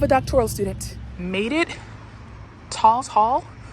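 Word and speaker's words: Tawes Hall: Talls Hall, I believe it's pronounced.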